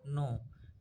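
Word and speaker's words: know: डिड यू नो, क्या आपको, नो means होता है जानना, जानना, क्या आप नो, के एन ओ डब्ल्यू, इसका प्रोनाउंसिएशन नो होता है।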